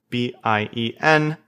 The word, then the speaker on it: bien: B-I-E-N.